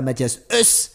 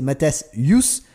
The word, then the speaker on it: Mathias: Alors c'est pas Mathias Us, c'est Mathias Yus, mais moi ça me fait de la peine parce que c'est vraiment Us.